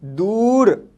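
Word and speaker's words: دور: ठीक है, अगर लफ्ज़ के बीच में ऊ साउंड आता है तो इसका यूज ये होगा दाल वाव, दू और रे, दूर, दूर, और इसको इंग्लिश में हम कहते हैं अवे।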